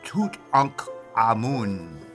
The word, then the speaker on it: Tutankhamun: But the actual pronunciation of the boy king name, I hate to say boy, of the young man, of the young man king's name is Tut Ankh Amun.